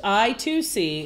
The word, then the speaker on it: I2C: I2C, inter-integrated circuit, pronounced I2C, is a multi-master, multi-slave, packet-switched, single-ended serial computer bus invented by Philips Semiconductor, now NXP.